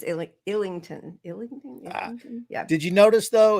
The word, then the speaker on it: Islington: I said Islington. It's Illington.